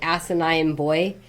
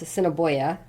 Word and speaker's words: Assiniboia: Some people would say asinine boy, and it's like, no, it's Assiniboia.